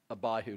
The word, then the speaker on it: Abihu: You pronounce that second name how? Abihu.